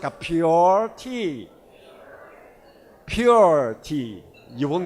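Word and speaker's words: Pu'er: is coming up in typical chinese pronunciation mandarin pronunciation is called poor poor tea but with your typical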